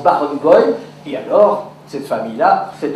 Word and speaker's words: Berenboom: mon nom c'est Barenboy, parce que ça se prononce à la yiddish, quand on écrit Berenbaum, ça se prononce Barenboy, et alors cette famille-là s'est appelée Barenboy, comme le chef d'orchestre.